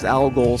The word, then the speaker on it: Al Ghul: in a corner with the but yeah, you'll hear on the upcoming album uh Ro alol spelled like the star a l g o l um trans you know